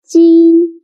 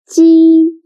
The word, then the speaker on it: 鸡: 鸡 sounds a little bit like the first sound of Jeep. But when pronouncing G. Your tongue should be more flat, and you need to stretch your mouth to both sides.